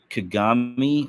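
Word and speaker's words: Kagame: with that philosophy um there's a video president kagami I want to say is how he's pronounces this k a g a m he's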